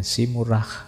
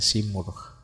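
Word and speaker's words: Simurgh: Ini ada yang membacanya simurah, ada yang membacanya simurh.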